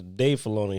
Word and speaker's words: Filoni: But Dave Filoni is the one, and I said his name wrong a few episodes ago. Is Dave Filoni, who was the writer.